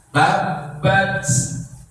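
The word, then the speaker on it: تبّ: Kemudian kalimat yang terakhir diakhiri dengan ba yang bertasydid. Tulisannya ba yang bertasydid pada akhir ayat itu di fathah. Tapi karena kita wakofkan, membacanya menjadi sukun. Tapi bertasydid maka harus ditahan lebih dulu sebelum memunculkan pantulannya. Ya, gimana contohnya tadi yang saya demonstrasikan, ya.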